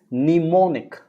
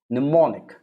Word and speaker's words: mnemonic: when is m m is silent when it comes before the word n like look at that word it looks very difficult right it's mnemonic mnemonic what is mnemonic mnemonic